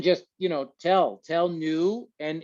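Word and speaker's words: Neue: you know tell tell new and it's spelled n-e-u-e but it sounds like new like new you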